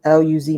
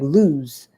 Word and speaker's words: Luz: And when I started doing some research, I just Googled, like, what does L-U-Z mean? I thought it meant like lose. I thought that's how you pronounce it because I think, I don't know.